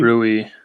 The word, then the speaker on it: Rui: So I'm assuming their second best player then is their rookie, Ryu. Right? Isn't that how you say his name? Rui? Rui.